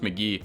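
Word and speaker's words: Mk.gee: album from California songwriter allegedly pronounced McGee I haven't been this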